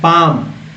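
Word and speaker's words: palm: L silent है, एल यहाँ पर क्या है, साइलेंट लेटर है, यानी कि लिखा गया है लेकिन इसको पढ़ा नहीं गया है। पाम, नहीं तो पाल्म पढ़ते हैं ना, पाल्म, अगर पाल्म पढ़ते हैं तो गलत पढ़ देंगे पाम।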